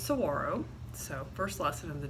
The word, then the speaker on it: saguaro: this morning we're gonna talk to you about saguaros a lot of you probably think that that giant cactus that mostly lives in Arizona is called a Saguaro but is actually pronounced sorrow so first lesson of the day and I